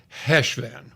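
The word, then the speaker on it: Cheshvan: and you do that growl at the back of your throat I'm going to call it Hesh van okay but it's c-h-e-s-h-v-a-n and he had some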